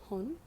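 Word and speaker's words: 本: what it goes with now this um is pronounced hon and it looks a little bit like tree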